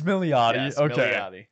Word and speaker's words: Milioti: is it okay so I've been pronouncing it different like every episode that's the correct way it's milot okay I apologize to